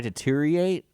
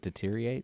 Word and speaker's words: deteriorate: it as if I deteriorate deteriorate that's close you're doing great what it deteriorate deteriorate there's a whole another syllable in there deteriorate deteriorate yes when